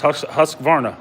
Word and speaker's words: Husqvarna: It's Husqvarna for sure.